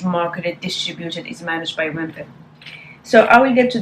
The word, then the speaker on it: Wempe: The pouch is from Wempe, and Wempe, or maybe Wempe, because it's Germanic kind of pronunciation.